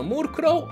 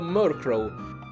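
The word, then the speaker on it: Murkrow: ovvero mark rohr sì anche questo molto pronunciano moore crowe omar crowe andrebbe detto mork rom perché sono come proviene da merck che vuol dire oscuro oppure border omicidio e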